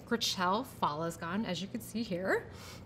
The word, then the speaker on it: Gritchelle Fallesgon: um if you're wondering how to pronounce my name it is gracel falasgan as you can see